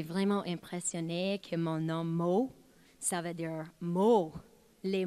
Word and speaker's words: Mot: And up next, we welcome Lady Mott, pronounced Moe, to the stage.